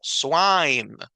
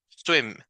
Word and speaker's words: swim: largo de la ae el sonido corto es un sonido también corto como que si fuera solo un golpe de voz verdad Y es swim swim Im Im la